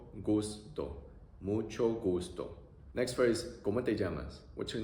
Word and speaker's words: ¿Cómo te llamas?: So, pronunciation, O-O-E-A-A. O-O-E-A-A. ¿Cómo te llamas? ¿Cómo te llamas?